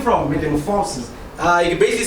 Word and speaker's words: Morphosis: Morphosis. Most deaf, but just to clarify first, it's spelled Morphosis, like you're literally meeting a morphosis.